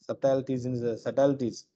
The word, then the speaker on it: subtleties: Subtleties. We can pronounce the word subtleties. Sub B is silent.